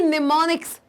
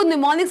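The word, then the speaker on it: mnemonics: जो एम होता है इसमें जो एम होता है वो साइलेंट होता है वो साइलेंट होता है इसलिए हम इसको निमोनिक्स कहते हैं इसका स्पेलिंग ये है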